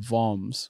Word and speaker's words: Worms: in this one city called voms which is spelled worms um so we're like